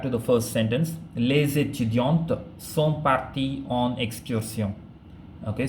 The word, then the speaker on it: étudiantes: It's actually les étudiantes. Okay, if you pronounce the les, L-E-S, les étudiantes, and you pronounce the last T, which means it is feminine, and the les makes it plural.